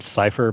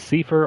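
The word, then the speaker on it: Seifer: Yeah, tell that to, I don't know, usually I call him Cypher, but some other people prefer to pronounce it as Cipher or Safer. Let's just go with Cypher.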